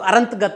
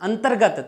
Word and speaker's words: अंतर्गत: तो अशुद्ध हो गया, ये तो अरंतगत हो गया ना। अंतर्गत, तय के बाद में रे को बोल रहे हैं ना, अंतर्गत, तो हम इसका ऐसे उच्चारण कर रहे हैं अंतर्गत, अंतर्गत, तो ग के ऊपर रे होना चाहिए ना, तो नाम होना चाहिए अंतर्गत, अंतर्गत, ये ठीक है।